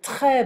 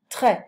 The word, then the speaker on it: très: Il fait très beau. Très. I don't pronounce the S.